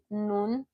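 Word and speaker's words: 눈: your I in Korean, which is nun, nun, your N, then your U, then your N. So you can see those are three characters arranged. Nun, it means your eye, and it also means snow as well.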